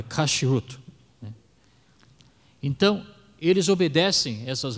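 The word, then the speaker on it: כשרות: hoje seguem se chama kut eu não sei essa pronúncia correta em hebraico é kashrut né então eles obedecem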